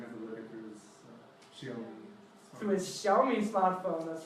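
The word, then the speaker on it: 小: And the fly was so small that the dragon had to look at his Xiaomi. through his Xiaomi smartphone, that's right. So what's the pronunciation, Jared?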